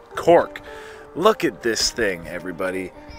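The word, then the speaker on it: Coch: C-O-C-H pronounced Cork.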